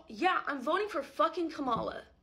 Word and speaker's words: Kamala: So yeah, I'm voting for fucking Kamala. Correct pronunciation of her name have been in the public eye for years. Hi, Kamala Harris.